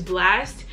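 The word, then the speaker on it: Blxst: If you know my favorite artist is Blast, his name is spelled B-L-X-S-T.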